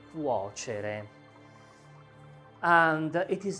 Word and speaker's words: cuocere: To cook is the verb cuocere, with this sound, cuocere. And it is not simple to pronounce, and it is not simple to conjugate, but we try it.